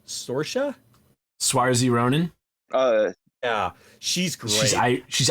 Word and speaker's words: Saoirse: I mean, of all the other movies, and I like how do you pronounce her name? Saoirse Ronan. Yeah, she's great. She's Irish. Swarzy, I believe.